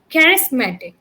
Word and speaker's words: charismatic: So the word, this one is pronounced as charismatic. Okay, you mispronounced it.